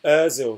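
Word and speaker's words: Özil: It's pronounced Ozil, says Scorpion 1129 Gaming.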